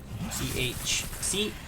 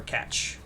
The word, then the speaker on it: cache: It's called a cache code. C-A-C-H-E, cache code. Or catch code. That's however you want to pronounce it.